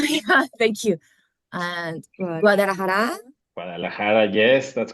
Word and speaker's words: Guadalajara: And Guadalajara, Guadalajara, yes, that's correct.